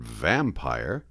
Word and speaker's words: vampire: When a sentence has the word vampire, which is a 2-syllable word, please treat it like a 3-syllable word, pronounced vampire, accent on vam.